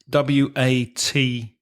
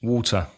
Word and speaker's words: water: Next word, W-A-T-E-R. In British English, water. And in American, water. Water. So the T in some American English pronunciation becomes like a D sound, doesn't it?